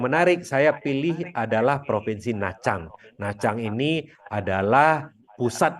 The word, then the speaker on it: Nha Trang: Tulisannya Nha Trang, tapi bacanya Nha Trang.